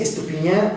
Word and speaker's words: Estupinyá: encontrarme por las redes sociales y bueno dice estupiñán aunque se escribe estupillar con y para que este lo